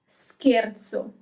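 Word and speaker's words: scherzo: Um, another one, scarzo.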